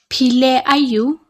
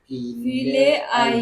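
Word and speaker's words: Phi leh aiu: P for potato.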